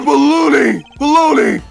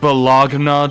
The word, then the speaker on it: bologna: We've had just about enough of your baloney, whatever! Take a chill pill, big guy. I'm on your side. Pronounced Bologna, Detective.